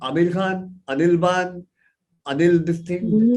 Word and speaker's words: Bann: वो लिखाई देखते हैं, because the spelling is BANN, तो बैन बोल उसको या देते। तो बैन बोलते हैं या बन बोलते हैं। सो आई जस्ट वांट टू हाँ, make it very clear that it's बान, इट्स इट इज नीदर